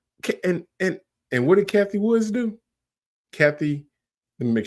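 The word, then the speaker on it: Cathie Wood: say her name correct I'm saying Kathy Woods Kathy Wood make sure that's correct because I don't want to butcher people name people be adding s's on to it ah there we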